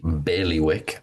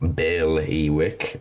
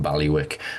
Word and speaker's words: Bailiwick: That was Sai Harrison uh from uh the Bailey Wick. Bailey Wick. Uh that first I really matters a lot. Apparently, it's a pet peeve of people from Jersey if you pronounce it Baliwick, which is what I